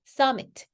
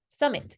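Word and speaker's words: summit: 스윔밍이라고 발음하시는 분 없잖아요 m이 두 개일 때 그래서 이거 그냥 스위밍이라고 발음하시잖아요 그렇다면 m이 두 개잖아요 자음이 두 개면 하나만 발음하시는 거예요 그래서 썸머가 아니고요 썸머라고 맨날 하시거든요 아니고 써머 썸머 summer met 아니고 써미트 써미트 써밋 이것도 엠마 아니고 에마 에마 그죠 그래서 이렇게 연결되는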